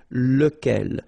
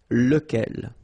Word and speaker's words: lequel: Okay, so remember, you've got to pronounce it lequel, even if you've got this QU. Okay, remember that this U phonetically doesn't exist, so lequel.